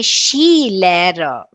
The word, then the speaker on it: Skilehrer: SKI is how we say it is like she. That's how we pronounce it. And we say Skilehrer.